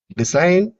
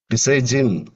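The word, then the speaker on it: design: டிசைன் பாரின் இதுல வந்து ஜி சைலண்டா இருக்கும். டிசைஜின் பாரிஜின் இப்படி சொல்ல மாட்டோம்.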